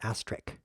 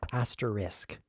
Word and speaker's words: asterisk: and by the way it's not asterick it's asterisk okay so now you know